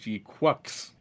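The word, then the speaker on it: GQuuuuuuX: And now this one is saying it's pronounced G-Quacks.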